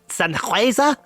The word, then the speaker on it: Sennheiser: code send in the man dear lovely common Sennheiser is how you pronounce it my work keep an eye on